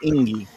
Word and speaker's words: Enge: Dan, E-N-G-E. I pronounce that Inge.